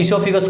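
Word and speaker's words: esophagus: ठीक है, ईसोफेगस को बोला जाता है फूड पाइप। ओ यहाँ पे साइलेंट रहेगा इसमें।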